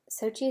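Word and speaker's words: Xochitl: Is it Sochi? Sochi is how you say it.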